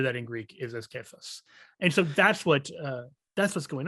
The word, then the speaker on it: Cephas: actually, everyone says Cephas. It's actually Kephas. It's a hard C, which is like it's because it's coming from Kepha.